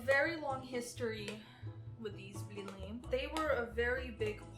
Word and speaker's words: blini: Blini. Or as Americans say, blinis. Blini? No, blini.